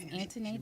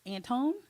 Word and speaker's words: Antoinette: Antoinette. Anthony. But the Mm-hmm. way it's spelled, people look at it like it's Antone.